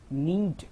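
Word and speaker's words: knead: तो आटा गथ लो नीट यहां पर के जो है वो साइलेंट हो जाएगी तोय सिर्फ नीट कहलाए कीी नीट द फ्लोर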